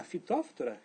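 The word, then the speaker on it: Phytophthora: Então, podridão radicular se diz root rot, que é causado pela fóftura. Ah, fitoftora, isso mesmo. Palavra em latim. Então, é muito semelhante a pronúncia.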